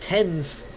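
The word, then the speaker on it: Thames: was like why is why how is it tens it's it's it's like it's spelled like James tens I'm confused really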